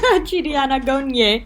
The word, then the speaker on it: Anagonye: Anagonye. That's how they say his name. Chidi Anagonye.